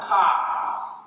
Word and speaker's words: chi: Ka. And ka sounds as K. K. It's harder than kappa. Kappa sounds as K. And ka sounds as K. K. The difference is the hardness pronounced in ka.